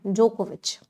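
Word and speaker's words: Djokovic: जो नवाक जोकोविच है इसमें ना डी साइलेंट है प्रोनंसिएशन जोकोविच सिनर जिनका बहुत बढ़िया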